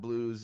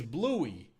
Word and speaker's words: Bluey: no more the wolf Blues no it's not Blues it's dumb you don't want to know Bluey it's Bluey it's stupid just dumb he couldn't even spell